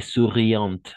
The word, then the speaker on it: souriante: Et souriante, à la fin, on va prononcer le T à la fin. OK. Souriant, pardon, le T, oui, jusqu'à le T. Souriante à la fin. Parce que sinon, au masculin, ça serait souriant, tout simplement souriant.